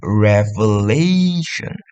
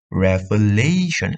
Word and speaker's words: revelation: kedua akhir suku kata, contohnya revelation, revelation, lay itu kan ditekan di kedua akhir, kemudian or the antepenultimate third last syllable atau di ketiga akhir suku kata, contohnya photography.